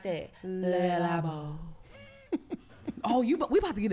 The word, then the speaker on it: Le Labo: But you gotta say it like that. Le Labo.